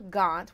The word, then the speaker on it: Gaunt: So we have Ella Gaunt, which rhymes with DuPont.